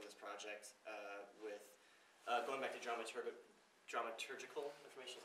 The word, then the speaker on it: dramaturgical: And they just welcomed us in, and they've been completely supportive of this project going back to dramaturgical information, is how you say it? Dramaturgical. Yes, it's hard to pronounce.